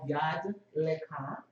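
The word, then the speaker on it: יד לך: It's actually called Yad Lekha, and that's Hands On You in Hebrew. That's the Hebrew pronunciation.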